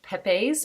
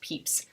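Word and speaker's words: Pepys: a man called samuel peeps his name looks like it would be pronounced like peppe's but it is actually pronounced peeps and he actually kept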